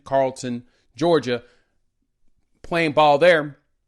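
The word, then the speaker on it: Carrollton: So because of that, and hey, thanks to y'all for correcting me on the pronunciation, Carlton, Georgia, playing ball there.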